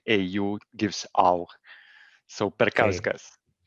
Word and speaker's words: Perkauskas: talking with, is my pronunciation of your Perkushkas correct? It goes in the right direction. In Lithuanian language, you typically pronounce au always, letters which go together, like au gives au. So Perkauskas. Perkauskas.